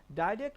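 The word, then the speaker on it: direct: আচ্ছা এরপরের মেথড আসছে ডাইরেক্ট মেথড বা এটাকে তুমি ডিরেক্ট মেথড উচ্চারণ করতে পারো ডিরেক্ট মেথড বা ডাইরেক্ট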